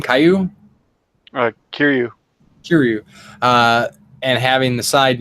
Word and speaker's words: Kiryu: Kiryu.